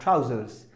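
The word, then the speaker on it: trousers: ट्राउजर्स याद रहे, एस को 100% हर हालत में प्रोनाउंस करना है, ट्राउजर्स।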